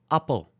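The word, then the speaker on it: appel: mandel that's an almond apple apple so it's a very short a-h sound right it's an apple and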